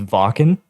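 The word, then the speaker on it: Wacken: like another video but we played the uh walk-in metal festival oh yeah yeah we were talking about this yeah so in Germany it's mentioned it's talked about like it's pronounced Vulcan so like Iron Maiden plays there and like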